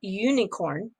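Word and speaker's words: Unikrn: icos today after a lawsuit was filed against unicorn which is spelled u-n-i-k-r-n uh they had this suit that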